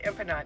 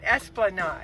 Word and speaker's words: Esplanade: I think I said Empanade. Esplanade. Esplanade, yeah. Yeah, because we're thinking empanadas.